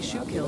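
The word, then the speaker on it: Schuylkill: They say shoe kill is pronounced like school. school.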